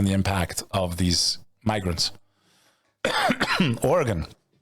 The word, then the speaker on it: Oregon: where you are in the US how you pronounce it I say Oregon they have passed a bill to rec criminalize